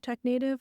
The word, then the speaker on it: Technative: And so it's not meant to be like native like to be original. It's meant to be creative.